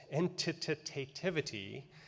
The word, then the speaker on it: entitativity: world which is entit entitativity it's got a syllable it really shouldn't have in the middle but it's the degree